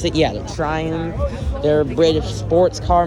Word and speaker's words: Triumph: Is that how you pronounce it? Yeah, the Triumph.